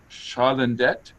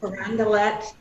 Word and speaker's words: Carondelet: Joseph's of Chalandet. Am I saying it correctly, Suzanne? I'm not. Carondelet.